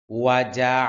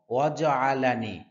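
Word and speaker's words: وَجَعَلَنِي: রব্বি রব্বি ওয়াজ আলানি অনেকে বলে এরকম ওয়াজ আলানি ওয়াজ বললে জিমের উপর জজম হয় জবর হয় না এটা সম্পূর্ণ ভুল হবে ওয়াজা হবে ওয়াজা ওয়াজ আইনের উচ্চারণ কণ্ঠনালীর মধ্যখান থেকে উচ্চারণ হবে নি এখানে এক আলিফ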